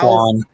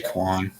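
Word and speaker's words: Kwon: How do you say that again? Like freaking Meow? Quan. Just say Quan.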